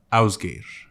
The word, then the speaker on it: Ásgeir: Tenemos aquí con nosotros a Ásgeir. Did I pronounce it right?